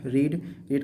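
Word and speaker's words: read: Verb का third form रीड का third form रेड, पर स्पेलिंग सेम रहेगी, will this newspaper B रेड, and then by subject you, तो यू, no change, done.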